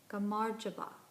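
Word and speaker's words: gamarjoba: can do this correctly hello is pronounced gamar java and goodbye which I'm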